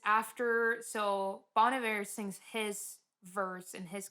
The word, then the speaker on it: Bon Iver: Song number 4, Exile, featuring Bon Iver. No, that's not how you say his name. That's how I say it. So yeah, but that's not how you say it. Bon Iver.